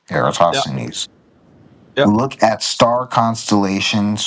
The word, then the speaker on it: Eratosthenes: How do you pronounce that? Eratosthenes. Eratosthenes.